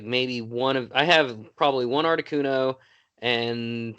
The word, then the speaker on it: Articuno: Articuno. I did it. Yeah, you did. Congratulations. I'm an idiot. But I mean, I don't. I have like maybe I have probably one Articuno and 2 Moltres and maybe 2 Zapdos because